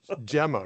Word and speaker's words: Gemma: And it's Gemma, right? With a soft G soft Gemma. Yeah. Not Not GMA like GIF. Yeah. Not GMA. Gemma. Um Mer because it doesn't have the E is not spelled.